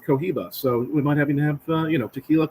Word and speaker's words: Cohiba: And I just realized tequila rhymes with Cohiba, so we might have tequila, Cohiba.